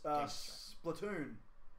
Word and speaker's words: Splatoon: Next up was Splatoon. Or Splatoon or something. Splatoon. Splatoon? Splatoon. Is that how you spell it?